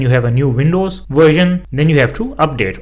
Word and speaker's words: Version: that we have the version which means version the version so you see how the word spelling is the same but it is pronounced differently so the version the next word is